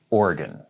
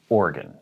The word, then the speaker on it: Oregon: say oregon you say organ there's a little bit of an uh after or and then the gone is not gone it's gun so oregon but the uh is very very very slight organ not oregon organ next